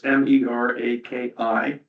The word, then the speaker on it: Meraki: They said the best system, and I'll mispronounce this, but it's MERAKI, Meraki, would be around $24,000 to $30,000.